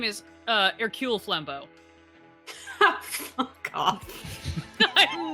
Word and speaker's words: Hercule: His full name is Hercule Flambeau. Fuck off. I'm not kidding, and I'm sorry. I think I know What's the how to best spell Hercule. Oh, Hercule. No, Hercule. It's French.